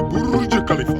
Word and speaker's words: Burj Khalifa: Burj Khalifa.